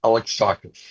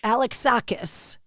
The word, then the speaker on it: Alexakis: No, not No, there's no Z. Alex Sakis. Alex Sakis.